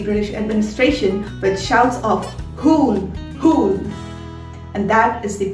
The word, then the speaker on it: Hul: Well, if you are predominantly an English speaker, most likely you're going to pronounce this as Hal. But again, if you look at the Hindi way of writing it or the Santhali way of writing it, if you know that language, you will realize that the U over here is to give a long sound. Ooh. So by that stretch of knowledge, this word is going to be pronounced as Hool.